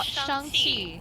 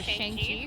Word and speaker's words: Shang-Chi: I saw Shang-Chi, or Shang-Chi, for people who need to see it phonetically or something in your head. Shang-Chi and the Ten Rings, at a press preview.